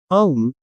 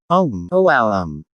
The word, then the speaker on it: Om: are combined it will become a um which pronounced om om which is a sacred